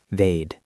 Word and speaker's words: they'd: And let's not forget they would becomes they. One syllable. They they'd If they knew, they'd be angry.